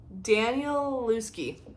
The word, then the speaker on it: Danielewski: How do you pronounce his name? Danielewski.